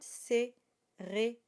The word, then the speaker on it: cérémonie: So it's an a sound, cérémonie. And the o is open, so it's not cérémonie, it's cérémonie. And the E, of course, at the end is not voiced, it is silent.